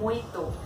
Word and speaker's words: mojito: अब हम चलते हैं अपनी तीसरे ड्रिंक की तरफ जिसका नाम है वर्जिन मोइतो। इसके स्पेलिंग्स होते हैं मोजितो, लेकिन बोलने में जे साइलेंट हो जाता है और हमें इसको बोलना चाहिए मोइतो।